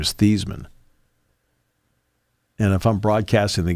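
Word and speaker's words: Theismann: uh said look he said we could go thyman for the Heisman if we go with that pronunciation so Joe thyman went along with it but the actual name pronunciation of his name is thian and if I'm broadcasting the games I just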